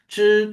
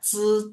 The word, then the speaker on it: 知: Ya, jadi memang harus zhi, zhi, zi, zi, si. Zhi, shi, zhi. Jadi memang harus berbeda.